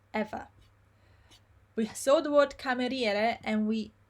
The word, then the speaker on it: cameriere: Okay, and the I is not pronounced ever. We saw the word cameriere and we said that CA is always ca,